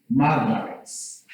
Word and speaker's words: marvelous: Marvelous is, there is an S, but it is read as marvelous, but the right pronunciation to this word, there must be the Z. The Z must not marvelous, but say marvelous.